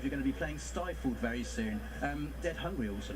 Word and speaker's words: Stifled: Still fled? Two wildly different takes on the horror genre, I guess that's fair to say. Also available tomorrow. Stifled, there you go, that's how you pronounce it.